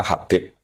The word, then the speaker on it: Habib: Itu di harakatnya kitab itu ada yang nulis khubab. L yang benar. Oh nggih. Yang benar itu bacanya habib.